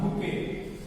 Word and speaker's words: bouquet: Bouquet. Remember this. The spelling is B-O-U-Q-U-E-T. Though it is pronounced as bouquet of flowers.